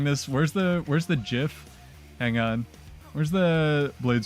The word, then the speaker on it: GIF: the dude who made gifs said it's pronounced GIF like the peanut butter oh man we'll try